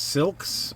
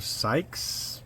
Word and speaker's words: Sielkes: So I think that's Silks or Sykes. I'm sorry, Dawn. It's one of those names I can't figure out how to pronounce properly. But anyway, it's like Silks Classic Garage. Now, it's pronounced like silky.